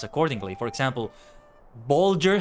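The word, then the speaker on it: Bolger: pronounced accordingly for example Bulger has a g as in Bulch and matham rhes with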